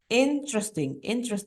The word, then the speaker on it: interesting: Interesting. So there are only 3 syllables, not interesting 4.